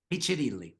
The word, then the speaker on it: Piccirilli: Is that pronounced Piccirilli? Piccirilli.